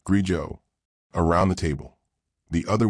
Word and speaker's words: grigio: It's Italian. Pronounced Grijo.